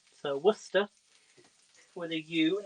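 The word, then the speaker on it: Worcestershire: so what's the sauce is great it is pronounced worcester so worcester whether you not i know what's the sauce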